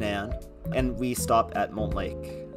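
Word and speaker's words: Montlake: They just say Mont Lake. I mean, I speak French, so I tend to pronounce it like mon.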